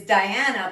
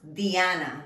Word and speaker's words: Diana: female names this is diana but in spanish it's pronounced diana the i in spanish sounds like a long e in english rosa maria sandra julia